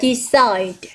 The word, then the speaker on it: decide: Còn ba đáp án khác thì chúng ta sẽ nhấn stress vào âm số 2. Chúng ta sẽ có là decide.